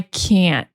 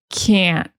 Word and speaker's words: can't: So what you need to listen for is the other vowel sound. You need to listen for eh. That is the sound you're going to hear in American English. I can, I can't, can't. That is the negative. Can't, So when you hear that sound, I can't, that's in the negative form.